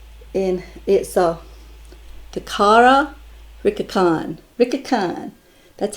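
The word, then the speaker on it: Licca-chan: i thought it was lika lika something like that but it's pronounced rickacon and this is her i'm sure a little closer um yes the japanese do not pronounce ells and i know that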